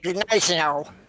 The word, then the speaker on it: Gneisenau: A G followed by an N is pronounced as an N. So, for example, it's like the G is there, but it's swallowed.